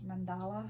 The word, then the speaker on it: mandala: and it just says Mandela crafts mandala I think is how you say it sewing thread and I'm